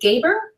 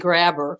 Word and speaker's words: Gaber: Is it Gaber? Yes, and you're one of the few that gets it right. I don't understand why it's Gaber, Gaber, and Grabber frequently.